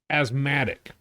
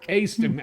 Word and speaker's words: Astigmatic: It was number 76, Komeda Quintet, Asthmatic. It was in astigmatic. I'm sorry. How did you introduce? Astigmatic is how it's pronounced.